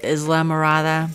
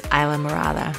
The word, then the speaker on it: Islamorada: It looks like Islamorada, but it's Islamorada, just so you know.